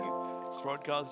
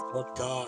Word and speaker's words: Throdgar: Throdgar, it's Throdgar. Alright, going into it. When you say it like that, sort it of kind of want sounds to- like a slur. Oh, you fucking Throdgar. Bro's saying it with the short R, not the long R.